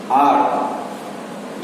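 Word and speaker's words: hour: सो एन ऑनर, an honest police officer, N आर एक घंटा, एन ऑनर, an honest person.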